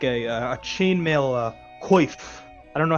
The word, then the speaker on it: coif: Just kind of he sort of produces sort of like he produces like a sort of like a chainmail coif. I don't know how to pronounce that word.